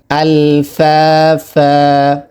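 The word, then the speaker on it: أَلْفَافًا: ফা আলিফ জবর ফা, একালি পরিমাণ টান হবে। ফা আলিফ দুই জবর ফান, এখানে আমরা থামলে এক জবর পড়ব। আলফাফা।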